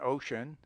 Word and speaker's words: ocean: C has sometimes a power of SH as in ocean, social, associate, etc.